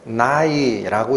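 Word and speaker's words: ναί: 그러하회다 그렇습니다라고 번역한이 단어는 헬라어로 발음을 해드리면 나이라고 읽히는 단어인데 영어로는 es입니다 예스 예스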